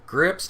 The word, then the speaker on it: Gripsed: are um evan is it is it grips grips how do you pronounce it correctly yes yes yes so to